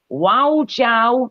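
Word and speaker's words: 我叫: And if you want to say, hello, my name is Dave or whatever, just go, wow, Jiao, Dave.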